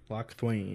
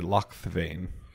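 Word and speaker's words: Locthwain: Yeah, it's Lochthwain. Lochthwain. Lochthwain. Lochthwain. Or if you pronounce it German, Lochthvain. Lochthwain, I guess, technically, because the I comes after the A.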